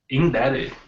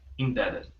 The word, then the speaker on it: indebted: Indebted. Good. Indebted. The B don't have sound. Is E is silent. okay. Indebted.